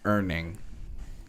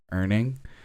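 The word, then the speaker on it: Urning: the time as an earning u-r-n-i-n-g earning um although it that might be the German pronunciation of the word and it's pronounced slightly differently it has to do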